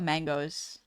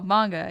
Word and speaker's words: manga: My dad used to call it mangoes. because he didn't really know how to pronounce it.